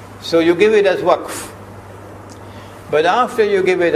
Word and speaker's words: waqf: Now you must not say waqaf, because the word is in the Quran, you must pronounce it as it is in the Quran. So you give it as waqf.